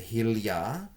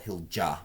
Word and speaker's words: Hilja: So the Hilja it's spelled Hilja, but it's pronounced Hilja, is $25 for a pair.